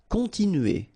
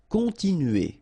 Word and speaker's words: continuer: Continuer. All right, so here, nasal, continue, remember, U, and then E. Continuer. Oublier.